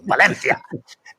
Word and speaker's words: Valencia: And we're going to have it in Valencia. Well, Valencia, if you want to pronounce it, how the locals do. Valencia. And then it's a conference where we just go.